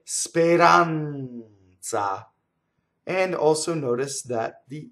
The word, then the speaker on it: speranza: right so AD speranza so notice again the Z is the T Z the N Fonuts it's double right speranza and also notice that